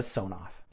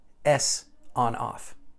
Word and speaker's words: Sonoff: one more thing a sawn-off thanks to w johnson who had a recent chat with IT tech support and let me know that the intended pronunciation is actually s on/off I don't know if